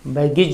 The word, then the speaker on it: baggage: बैगेज जो हम बोलते हैं, बैग एंड बैगेज, AGE last में जहाँ ही लगता है इसका उच्चारण ईज हो जाता है, बैगेज।